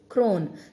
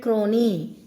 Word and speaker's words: crone: Crone. Children, don't read crony. E is not pronounced. E at the end in English, we don't pronounce. This is crone.